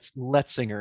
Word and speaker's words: Letsinger: Um my name is Le Letinger is how you pronounce it.